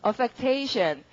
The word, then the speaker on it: affectation: 발음은요, affectation.